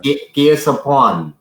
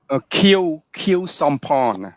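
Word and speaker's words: Khieu Samphan: My question is this: since we go get deep into this, I want a correct pronunciation of the people. Sure. Kill Sampon. Kill Sampon. Okay, Kill Sampon.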